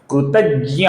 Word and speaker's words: कृतज्ञ: य से बनता है इसका संस्कृत में सही उच्चारण होता है दोस्तों ज्ञ ज्ञ ज्ञ नहीं हिंदी का ज्ञ उच्चारण हम संस्कृत में नहीं करते हैं तो इसका सही उच्चारण है कृतज्ञ और कृतज्ञ का जो